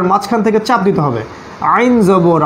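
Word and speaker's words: عين: আইন আইন আইন আইন আইন গলার মাঝখান থেকে কেমন এই দুটো অক্ষর মনে রাখতে হবে হ্যাঁ এবং আইন গলার মাঝখান থেকে উচ্চারণ করতে হয় গলার মাঝখান থেকে ঠিক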